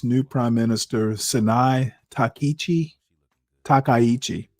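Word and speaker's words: Takaichi: Takichi, that's that's how you pronounce it.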